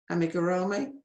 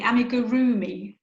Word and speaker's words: amigurumi: fascinating and i now know how to say amigurumi is that right really nearly amigurumi amigurumi yes it's a tricky word i remember